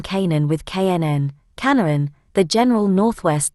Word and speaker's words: Canaan: The English term Canaan, pronounced Canaan since c. AD 1500, due to the great vowel shift, comes from the Hebrew, Knn.